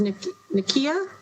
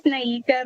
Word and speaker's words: Naika: Yeah, I know we're not pronouncing it right, but Ms. come on. Go ahead, please. Help us with your name. Please say your name so we all know. Thank you. It's Naika.